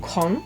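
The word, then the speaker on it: 空: looking at the original name again chinese and pronounced kong the chinese kanji also circles back to the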